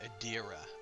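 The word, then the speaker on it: Adra: Oh, so it's pronounced Adira. Okay, I'll remember that.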